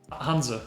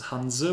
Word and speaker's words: Hanse: Hansa. Hansa. Yeah, like that's probably the closest. Because in English it's actually Hansa with an A in the end, but it's in German it's Hanse with an E in the end.